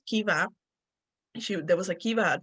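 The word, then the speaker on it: Caoimhe: Like I would say something like Kaomi or something like that, but the name is actually Kiva.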